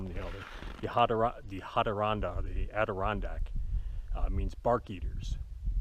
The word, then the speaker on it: Ha-De-Ron-Dah: we anglicized it, but the original pronunciation probably would have been something more like Ha-De-Ron-Dah. And that's the Iroquois called their Algonquin neighbors. They call them, you know, the Ha-De-Ron-Dah, the Adirondack.